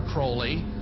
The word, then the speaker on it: Crowley: about was Alistair Crawley he likes to have his name pronounced Crowley to rhyme with holy and uh the Satanist